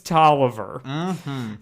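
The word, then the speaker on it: Toliver: I am exactly thinking of Don Tolliver with 19 million monthly listeners on Spotify. So Okay. I was not. All right. entirely- You're not crazy. Not crazy. His name does rhyme with John Oliver, though.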